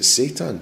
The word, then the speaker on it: seitan: Is it seitan?